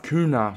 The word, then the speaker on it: Cunha: it's one nil boys koon is a striker we need a goal here and the man himself kuna pretty sure it's how you pronounce it is in the right